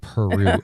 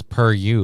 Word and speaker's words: Peru: Pronounced Peru. Oh, Peru. Peru. Yeah, it looked like it was per you. Like it was the per university.